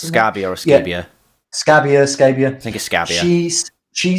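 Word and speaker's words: Scabbia: them that much yeah christina scabia yeah you pronounce it scabia scabia thank you she's she sang on the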